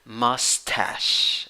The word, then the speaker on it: mustache: Yes, that is the pronunciation. Mustache.